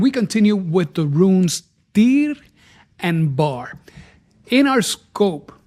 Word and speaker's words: Tyr: When we start speaking about the rune Tyr, the rune Tyr is about awaken consciousness. This particular rune with a T, the Y and the R, when we pronounce it, it is T I R.